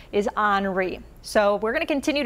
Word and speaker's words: Henri: tropical storm henry i know it looks like henry but the national hurricane center has the pronunciation for henry as you might think it is pronounced is henri so we're going to continue to talk about